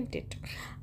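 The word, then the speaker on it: debt: इन डेप्ट ठीक है य पर बी जो है साइलेंट रहेगा तो बोलेंगे डेट आई एम इन डेट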